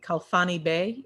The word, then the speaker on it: Khalfani-Bey: I want to make sure I'm pronouncing it correctly. Khalfani-Bey, is that how it's pronounced?